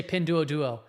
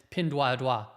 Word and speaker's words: Pinduoduo: it, but yeah, it's, people say pin duo duo, but it's actually the correct Chinese pronunciation from somebody from China. An analyst of that company says pin dua dua. So if somebody wants to correct me, that speaks language. No, I know, but yes, pin dua dua is actually the pronunciation, right? Not duo duo. That's the English pronunciation.